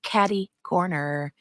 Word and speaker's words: caddy corner: is unusual is it finally somebody says it right way to go Mr Dean you said it right it's caddy corner and Spins isn't here